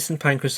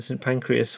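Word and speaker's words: St Pancras: Yeah, it's definitely St. Pancress. A lot of people mispronounce it in St. Pancreas, which is a body part.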